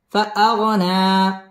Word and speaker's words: فأغنى: গুন্নাহ করে পড়তে হবে ফাআগনা এক আলিফ টান দিয়ে ওয়াকফ করতে হবে ওয়াজাদাকা আইলান ফাআগনা ووجدك